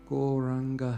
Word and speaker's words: Gauranga: Gauranga has 4 syllables. Go, Ra, An, Ga.